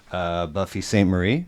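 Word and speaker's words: Buffy Sainte-Marie: Buffy St. Marie. Is that Yep. proper pronunciation?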